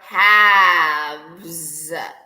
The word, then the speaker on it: halves: Half or halves. All right, with an L, even though the L is silent.